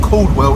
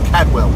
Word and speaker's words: Cadwell: In yesterday's video, I had a couple couple of people on about Cadwell Park that I pronounced it wrong. It's not Coldwell, it's Cadwell.